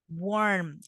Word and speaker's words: warm: Warm. Listen, warm. There is a letter M at the end. So you have to pronounce the letter, okay?